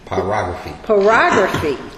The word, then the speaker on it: pyrography: Can you pronounce this for me? Pyrography? Pyrography.